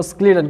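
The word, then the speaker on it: Schleiden: ये जो है प्रोनाउंसिएशन का, कुछ लोग जो है इसको शेल्डन प्रोनाउंस करता है, कुछ लोग जो है उसको स्क्लीडन को प्रोनाउंस करता है।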